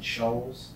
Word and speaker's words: Scholes: Justin Scholes? Yes. Is that S-H-O-A-L-S? I don't know how to spell that.